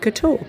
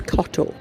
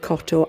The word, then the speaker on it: Kotor: on the Bay of Couture and I don't think I pronounced that correctly I think it's cot anyway the city walls